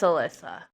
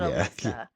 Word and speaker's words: Alyssa: Yeah, it's Alyssa. Not Alyssa."